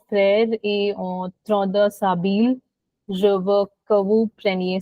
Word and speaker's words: s'habiller: Er ending verbs, का जो ending है, it's always pronounced as a in French. Okay, so we say a, s'habiller.